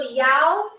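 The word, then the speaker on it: já: So, ya means yes. And it's spelled J A.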